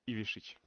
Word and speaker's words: Ivišić: Ivišić.